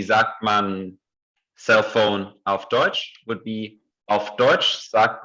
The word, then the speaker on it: Deutsch: wie sagt man auf Deutsch. And this EU is pronounced like oi, like in the word oyster in English.